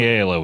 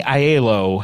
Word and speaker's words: Aiello: through the 90s, if it was a quality film, if Danny Aiello was in it.